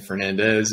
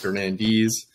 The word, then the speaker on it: Fernandes: uh last time we we kept saying Fernandez it's actually pronounced Fernandez so uh you know